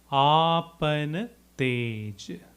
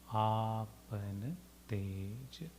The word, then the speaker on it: आपन तेज: We'll look into the pronunciation first in 4 parts. Please respond after me. Apan tej. Apan tej.